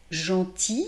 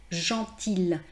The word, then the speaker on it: gentil: Gentil se termine par IL. Et en fait, vous avez, on ne dit pas gentil. Hein, beaucoup de personnes me disent gentil, un garçon gentil.